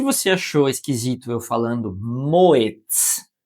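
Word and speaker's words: Moët: como você quiser, mas moet, porque ele não é um nome de origem francesa, então não segue a regra clássica aí que seria uma pronúncia francesa, comendo esse T aqui como Renault, Peugeot, enfim.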